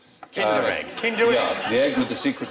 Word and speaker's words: Kinder: an extra point below actually rhymes with tinder egg kinder the egg with the